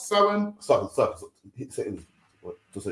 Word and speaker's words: Samhain: We're going to give you the complete history it should be of Samhain, pronounced Samhain.